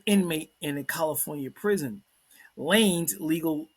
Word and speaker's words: Lanez: Rapper Tory Lanez, or they used to call him Lanez until someone like, I think you pronounce it Lanes.